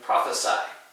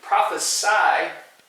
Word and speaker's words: prophesy: and our last one number seven prophecy and prophesy you can notice there's just a little difference in pronunciation not much prophecy with the sea is a man and that means a prediction and prophesy a verb means to predict okay so if